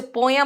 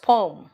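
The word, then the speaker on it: poem: जैसे पोयम नहीं बोलते, इट्स पोम, है ना.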